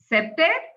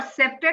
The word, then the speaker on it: CPTED: So as we notice our title has three main components to understand before we start discussing septed uh CPTED or septed as it is pronounced integrating of public safety and security and lastly smart cities.